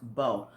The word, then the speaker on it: Bao: i'm pronouncing it right bo b-a-o i think it's pronounced bo um they're a vietnamese